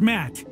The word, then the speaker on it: Matt: The name's Matt. The second T is silent.